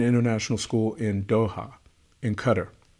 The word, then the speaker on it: Qatar: school in Doha in Qatar some of you call it Qatar I've heard the residents there pronounce it as Qatar so I'm gonna respect the residents pronounce it the way that they do a visit in